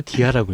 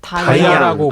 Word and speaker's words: DIA: DIA가 다이아로 읽어요? 디아라고 읽어요? 다이아라고 아, 맞아요.